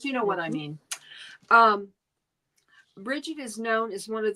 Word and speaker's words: Brigid: And it is, you're supposed to pronounce it Brigid. Or Breejid.